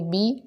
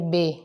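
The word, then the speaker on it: بِ: زیر ای، با زیر بی، یہ ہوتا ہے با زیر بی۔ کچھ لوگ اس کو اردو لہجے کی طرح پڑھتے ہیں با زیر بے، بے نہیں ہوتا، بے اردو میں ہوتا ہے۔ آپ نے پڑھنا ہے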